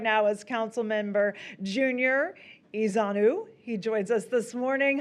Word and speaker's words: Ezeonu: Joining us right now is Council Member Junior Ezanu.